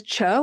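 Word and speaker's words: TCHO: There's Cho. It's spelled T H T C H O.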